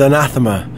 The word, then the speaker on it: Anathema: The official pronunciation is Anathema. Anathema. Anathema. Got it. But I prefer any of the other 5 pronunciations that I've heard. You know, in the South they say anathema.